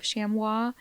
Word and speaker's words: chamois: of other game species the plural of shamwa uh is usually or often pronounced the exact same as the singular but it can be pronounced with the final s on the word sounded so sham can be correct even though it sounds wrong okay sh um I also